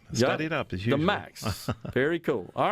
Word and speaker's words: MAEX: arts and entertainment experience how do you say it the m-a-e-x do you say it we'd call it the max okay yeah okay that's